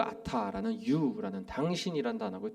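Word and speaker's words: אתה: 첫 번째로는 히브리어로는 아타라는 발음의 단어인데요.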